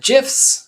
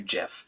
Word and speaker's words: GIF: or anything and then gifs are exceeding gifs that's how i pronounce them are popular for using as sort of animated images i pronounce them as gif like gift as opposed to jif but i guess it